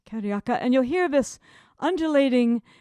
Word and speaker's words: carioca: to the people of rio kariyaka according to my brazilian neighbor i'm sort of trying to pronounce it carioca and you'll hear this